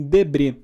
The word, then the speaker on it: Debret: Se vocês puderem, deem um Google aí em Debré, se escreve Debrete, com T mudo, tá?